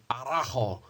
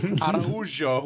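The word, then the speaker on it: Araújo: This is like, do you remember when we tried to pronounce, what's her name, that flyweight, and we were going, Arajo, and it turns out it's Araujo, which is just like completely wrong.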